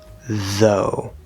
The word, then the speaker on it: though: So, this is the t h sound voiced with the o vowel, o. Though. Though. Okay? It's not thuh or thah or something like that.